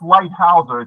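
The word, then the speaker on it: Leithauser: It's pronounced lighouser. is a German name.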